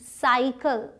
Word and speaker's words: cycle: अब देखिए ये CYCLE, साइकिल, दोनों ही सी हैं लेकिन दोनों के साउंड्स अलग हैं। इसके बाद वाई है इसलिए ये स प्रोनाउंस हुआ साई, इसके बाद एल है इसलिए क प्रोनाउंस हुआ कल, साइकिल।